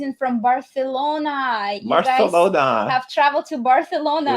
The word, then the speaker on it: Barcelona: a lisp it's like barcelona so barth so this the c the c e l is pronounced almost like a t h no just the c pronounced the c is pronounced like a th right barcelona yeah super